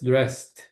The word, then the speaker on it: dressed: E esse D aqui na pronúncia é só de T no final gets dressed ou então she she gets dressed.